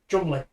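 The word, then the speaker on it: Cholmondeley: No, it's It's like Beaver, it's pronounced Belvoir. Beaver. Or it's the other way around. Chamonley. Chumley.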